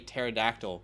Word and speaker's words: pterodactyl: can't you hear a pterodactyl going to the bathroom because the p is silent you love the dad